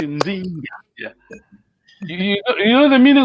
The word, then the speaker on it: Nzinga: Oh, it almost sounds like Zinga. Zinga. No. Yeah, you're right. You pronounced correct in Zinga.